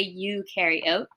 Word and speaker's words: eukaryote: carrying oatmeal you bacteria eukaryote you are a you carry oat you carry the oatmeal so well um you're